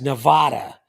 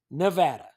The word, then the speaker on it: Nevada: And I want to pay homage to the people of Missouri, because I hate when people pronounce Nevada as Nevada or Nevada or Nevada or Nevada. It's Nevada.